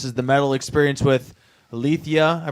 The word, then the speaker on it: Alethia: This is the Metal Experience with Alethia. I pronounced that correctly again?